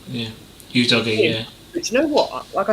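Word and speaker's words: Udogie: Doggy.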